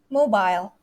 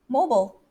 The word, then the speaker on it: mobile: r as well okay number five that word british way mobile mobile but the americans mobile mobile and then the sixth